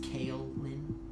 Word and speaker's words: Kaylin: That's pronounced Kaylin, technically.